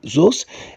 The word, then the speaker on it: those: طيب في زيز وزوز، في زيز وزوز اللي هو الجمع القريب زيز والجمع البعيد زوز، الاس اتنطق شبه الزي، شبه ايه؟ الزي.